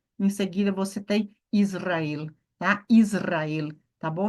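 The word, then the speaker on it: ישראל: em seguida você tem Israel tá Israel tá bom não é Israel é Israel Israel temos aqui então a tônica tá onde No el perceba se eu falar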